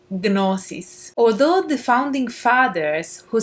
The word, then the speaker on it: gnosis: altered states of consciousness, otherwise known as gnosis, which in ancient Greek would be pronounced gnosis.